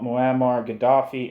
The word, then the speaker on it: Muammar Gaddafi: James Square last Tuesday to oust the supporters of Colonel Muammar Gaddafi and install a bunch of right-wing pro-imperialist stooges," end quote.